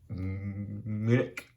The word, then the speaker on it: Munich: So, to get things off, as you can see by this name here, I was in, some people pronounce it München, typically it's pronounced Munich, or at least that's how I pronounce it.